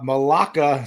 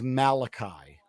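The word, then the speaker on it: Malaki: But, um, uh, Malaka Starks from Georgia is now going to the Ravens. His name is Malachi. Mal Malaka. Malachi.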